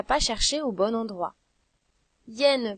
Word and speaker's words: hyène: Hyène peut commencer par un i, ou bien par un y, ou même par un h muet.